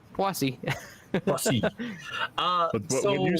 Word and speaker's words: Poissy: I went to Google Translate and had it pronounce it for me, and it's Poissy.